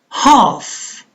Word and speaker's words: half: Half. Half. L is silent.